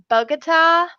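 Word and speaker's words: Bogotá: So, Bogota, Colombia.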